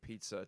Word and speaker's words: pizza: Glad Tom Benoit spoke out against the inane shortening of pizza to za. I don't even know anyone who says it that way, but I've seen it online a few times. Come on, it's 2 syllables, people.